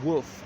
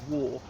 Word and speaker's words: Waugh: Incidentally, the surname in Northern England is, I believe, pronounced Woof, as in a dog says woof woof. But he's commonly called Waugh, like Evelyn Waugh, to whom he was not related, I believe.